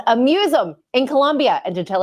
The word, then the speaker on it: aMuse'um: When you see it in print, it's a play on the word museum. And it doesn't look pronounceable at all, but it really is aMuse'um.